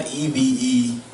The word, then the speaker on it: EVENTX: So it's EVENTX. That's so it's like Event Texas. You still say events, it's just spelled with the X at the end.